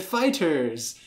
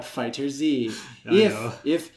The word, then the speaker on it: FighterZ: The Z makes it Fighters. The katakana for it shows that it is pronounced Fighters. It is not FighterZ.